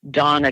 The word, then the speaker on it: Dana: doing some fascinating research her name is Donna Konza it's spelled Dana but she pronounces that Donna and she's just recently